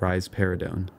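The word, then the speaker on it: risperidone: this is rar parone you can remember that rise paradon gives rise to a pair of breasts by pronouncing it rise paridon finally we get to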